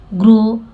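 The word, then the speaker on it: grown: और देखिए ग्रोन, जी के बाद आर है, ठीक है, ग्रो यहाँ तक सही है, लेकिन ये डब्ल्यू जो है यहाँ पे साइलेंट है, ग्रो, ठीक है, इसलिए इसको पढ़ते हैं ग्रो।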